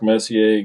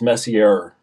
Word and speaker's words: Messier: sure it was Mark Messier Gretzky and coffee with the team back in the 80s his name isn't pronounced Messi it's Messier or something like that I can't remember had